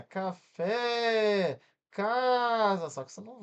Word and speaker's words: café: Ca fé. Separei aqui, ó. Fé, a última levou mais tempo para pronunciar.